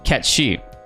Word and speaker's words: Cait Sith: they finally meet him he says in his Scottish accent his name is ketchy and the party just